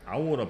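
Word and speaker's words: hour: 대표적으로 5 아니스 정도임 이때는 하우어 가 아니고 아우라 발음이 나고 하니스 가 아니고 안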